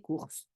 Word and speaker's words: cours: Yeah, les cours, cours is courses when you don't pronounce the S at the end.